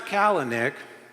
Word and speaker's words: Kalanick: Travis Kalanick, whose name rhymes with prick.